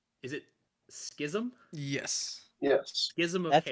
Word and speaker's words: Schism: it all right is it Schism yes yes Schism of that's how you say it yeah oh I pronounced it wrong so many times gism I said scasm uh it is a legendary chaos resource J